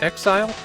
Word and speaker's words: XZR: The Japanese text indicates that XZR is supposed to be pronounced Exile, but I think that's a real stretch.